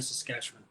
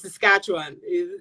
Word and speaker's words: Saskatchewan: Regina, Saskatchewan. Thank you for taking the time. Doi, I hope I pronounced it right.